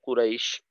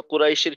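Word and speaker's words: قريش: এখানে যেটা হয় যে কফটা বলার পর অনেক সময় দেখা যায় কুরাইশ, কফের উচ্চারণটা একটু লম্বা হয়ে যায়, একটা বিষয়।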